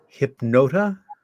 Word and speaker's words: Hypnotta: Your Broadway, it is a Broadway level musical, and it is pronounced HYPNOTTA. HYPNOTTA.